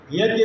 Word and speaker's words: यज्ञ: यज्ञ का सही उच्चारण, करेक्ट प्रोनाउंसिएशन है यज्ञ।